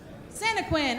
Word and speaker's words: Santaquin: say that for me Santaquin okay it's just like it's spelled I didn't want to